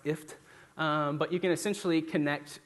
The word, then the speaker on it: IFTTT: I think it's phonetically pronounced IFT.